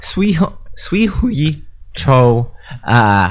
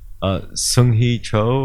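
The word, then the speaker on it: Seung-Hui Cho: You know, there's a huge, you know, Sui Hui Cho. Say his name again. Sung Hee Cho.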